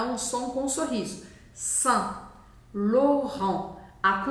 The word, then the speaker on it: Saint Laurent: barata quente s loron e o t no final não é pronunciado taca vermelho nele agora